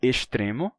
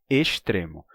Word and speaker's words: extremo: Se eu digo estrela, eu também vou dizer extremo. Mas quem diz estrela vai dizer extremo, tá?